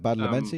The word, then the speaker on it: Badalamenti: You've got Marilyn Manson on there, and interspersed all with Angelo Badalamenti. Is that how you pronounce it? Badalamenti.